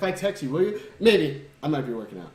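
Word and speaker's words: Mei: May, whatever you pronounce it. It's May. There is no Really? There's no air.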